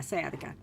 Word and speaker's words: sciatica: Yeah, sciatica.